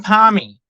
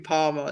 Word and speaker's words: parmi: So chicken palmy. Is it a palmy or something else? Is it what? Palmy or something else?